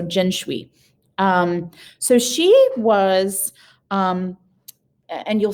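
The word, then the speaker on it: 辛追: The rest of her name is Jin Shui. So Jin, the Xin would be pronounced Jin, like the gin, the cotton gin, the drink, and Shui, S like Sui, like Schwee, like so Jin Shui.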